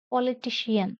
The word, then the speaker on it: politician: The word politician has four syllables and third one is stressed here. Ti is stressed. Politician.